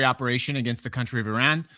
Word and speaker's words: Iran: I keep getting criticism about how I pronounce it. Iran is apparently the correct way to pronounce it. I'm from the Midwest, and so I'm very used to saying Iran.